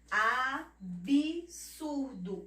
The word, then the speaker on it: absurdo: Mais uma palavra, absurdo, Absurdo. O B, a gente pronuncia o B como se ela tivesse um I. Absurdo, mas não, é somente a consoante, a letra muda.